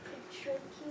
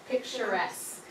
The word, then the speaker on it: picturesque: I don't know how to pronounce this, but picture cue. That's how I'm gonna. Picturesque.